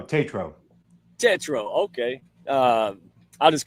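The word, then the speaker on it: Tatro: Because, you know, I'm I can't I'm a broken speak and spell my So, phonetically be like T- A T- RO. Tetro.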